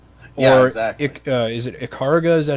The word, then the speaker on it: Ikaruga: is it Ikaruga? Is that how you say it? Ikaruga, Yeah.